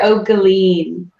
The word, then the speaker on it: O'Guilin: last name Megan is our pretty official pronunciation patter okay lean patter Oh galine yeah they're talking about